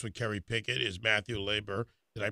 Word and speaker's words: Leber: guest other guest with carrye picket is Matthew laber did I pronounce that correct correctly yes sir Liber spokesman for the American Patriots and the 3%